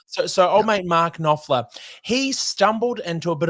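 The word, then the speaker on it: Knopfler: Um, written because old mate, now I can't pronounce his last name. Mark, is it um cop? Nofler. Nofler. Nofler. Okay. So, so old mate Mark Nofler, he stumbled into a bit of a dive bar in London.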